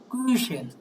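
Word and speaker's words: Küchen: এটা উচ্চারণ হবে কুইশেন, কুইশেন। আর যেটার উমলাউট নাই এই যেটা, এটাকে বলা হচ্ছে কুখেন, ডেয়ার কুখেন, এটা অর্থ হচ্ছে কেক।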